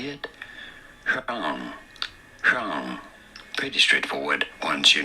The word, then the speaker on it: Huang: Huang. Huang. Pretty straightforward once you know. Huang.